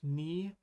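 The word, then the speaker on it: に: And that's how they remember that this is pronounced ni. Again, I'm sorry. I really don't see it. But hey, if it helps you and you remember that this is ni because it looks like a knee, then let me know in the comments.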